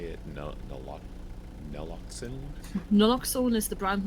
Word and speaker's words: naloxone: Naloxone.